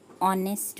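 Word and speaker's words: honest: इनका यूज करते एंड ऑनेस्ट मैन यह हम ऑनेस्ट मैन बोल रहे हैं ऐड साइलेंट है इसलिए वो से स्टार्ट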